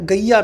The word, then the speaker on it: Gaia: ठीक है, अगली न्यूज़ दोस्तों, अगली जो न्यूज़ है वो है गैया मिशन। ठीक है, गैया मिशन, गैया को स्पेलिंग भी लिख लो इसकी, GAIA, गैया मिशन।